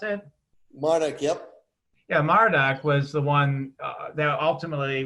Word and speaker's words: Marduk: about was it Marduk is that how you pronounce it Manik yep yeah Marduk was the one that ultimately was like said